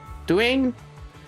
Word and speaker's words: Doran: how do you pronounce the name? Doran? Duane? No, it's definitely Doran.